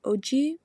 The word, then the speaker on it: Ojibwe: In the land of the Ojibwe, so how you pronounce that is Ojibwe, so Ojibwe.